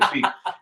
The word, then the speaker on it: Kliq: It's because, let me explain why. It's spelled KLIQUE or CLIQUE. Yeah. But during WWF programming, it was called WWF at the time. Yeah. They used to have something called the Clique Cam. Clique Cam, yeah. Which was Shawn Michaels coming out with it. Yeah. So how do you differentiate the pronunciation without the UE and with? Oh, I don't know. That's Click. right. Everybody says Click.